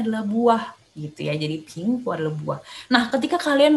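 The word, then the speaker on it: 苹果: Apel Mandarinnya adalah pingguo. Pingguo. Ingat ya, P bacanya gimana? P juga tapi ada H. Ping gitu ya, ping. Sedangkan G-O-U, G baca dengan K ya.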